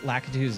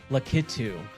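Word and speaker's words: Lakitu: Hey, we unlocked Lacatu. All right. So, I remember as a kid I did not know how to pronounce Lacatu's name. So, I believe I always called him Litu.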